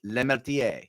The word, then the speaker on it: Lemeltier: Tonight's guest is Lemeltier. You have to say that way too, by the way. You have to pronounce it with an accent.